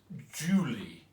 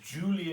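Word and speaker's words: July: Please pronounce it Julie, and Julie in her eyes.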